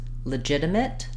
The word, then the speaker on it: legitimate: at how to pronounce legitimate and legitimacy so both these words are stressed on the second syllable ji and letter G says the J sound I've Rewritten that for